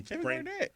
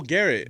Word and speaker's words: Garrett: Garnett, what's his name? Why am I saying his name wrong? Um I'm I'm Garnett. No, I'm having brain farts right now from Cleveland Browns. Oh, Garrett. Garrett.